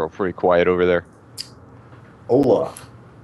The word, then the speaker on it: hola: Hola. It's like the whitest Alright. hello ever. Yeah. Correct pronunciation is hola.